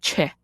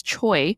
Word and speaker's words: Choe: I at the end, which is often mispronounced as Choe, it's actually Che.